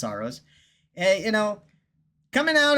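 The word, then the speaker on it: Saros: Sorrowos, actually, it's pronounced Soros.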